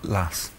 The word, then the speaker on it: As: Lass. I'll accept it. These are, as you both knew, playing cards in French. Jack, Queen, King, Ace and As. The French would pronounce it, or Las for the ace.